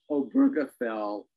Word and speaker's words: Obergefell: we had this we neither one of us can remember how to pronounce it from one week to the next but it's Alberta fell and oberka fell um said that um